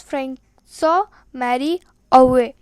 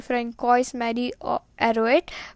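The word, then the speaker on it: François-Marie Arouet: Original name was Francois Marie Arouet. Now if you read this pronunciation by going word to word, it will be Francois Marie Arouet, but it is not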